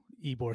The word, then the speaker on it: Ybor: everyone said go to ebor city and you have to learn first it's spelled with a y ebor city it's it's y-b-o-i y-b-o-r yeah and then but